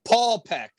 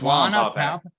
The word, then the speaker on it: Wallenpaupack: I still don't know if I'm saying it right, Lake Wallenpaupack. Yeah, you're close enough. Paulpeck. I think it's Wallenpaupack.